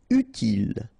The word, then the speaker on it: utile: Utile. Final E not pronounced, so utile.